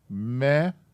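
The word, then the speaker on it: מאוד: There's the second part of the word, those two syllables, so it's pronounced me-od. Me-od.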